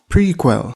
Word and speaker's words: PRQL: the first one is prql pronounced prequel this stands for pipelined